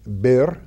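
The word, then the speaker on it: בְּאֵר: Well, you would have found it in Judges, but the correct pronunciation in the Hebrew is bar, bar. And it's bir, it means a well, okay?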